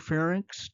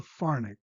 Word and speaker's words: pharynx: Notice the pronunciation of these words. Larynx is correct. Lex is not. Fernx is correct. It's not called the farx.